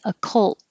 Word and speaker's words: occult: And you will hear the L in occult. The same thing as fold, the T stops the airflow from the L. Occult, occult. Hold the L so you can hear the L sound.